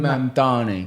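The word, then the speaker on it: Mamdani: Mandani. Mandani.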